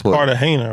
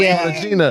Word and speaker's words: Cartagena: It's Cartagena, right?